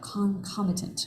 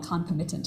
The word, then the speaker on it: concomitant: I just looked up concomitant concomitant it's I used to always say it wrong concomittant or something concomittant factors by associating